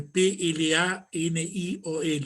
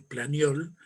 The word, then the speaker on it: Planiol: En el año 1921, uno de los más grandes juristas franceses, Planiol, se escribe Planiol, Planiol, autor del Tratado de Derecho Civil junto con